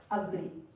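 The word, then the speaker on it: agree: फिर एक वर्ड और होता है अग्री, अग्री, यहाँ पर ए है, यहाँ पर ए है, इस ए को हम अ से साउंड करेंगे, अलोन अग्री। इसको एलोन एग्री नहीं पढ़ेंगे, इसको अलोन और एग्री बोलेंगे।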